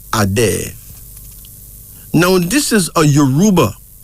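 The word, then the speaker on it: Adé: name is a day a day a d e pronounced as a day now this is a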